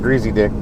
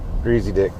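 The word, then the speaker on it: Griesedieck: Yeah, it was a it was a company called Greasy Dick. Wasn't per It wasn't spelled like that, but that's how it was pronounced. Greasy Dick.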